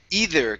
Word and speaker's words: either: Next, we have the word either. Give me a good th instead of either.